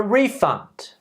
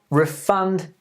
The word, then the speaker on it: refund: cannot refund your money so the stress on the second stress noun verbs stress patterns nouns stressing at the beginning verbs stressing the last syllable now thank you very